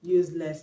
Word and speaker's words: useless: verb so option C useless is an adjective and it has a stress on the first level in the next episode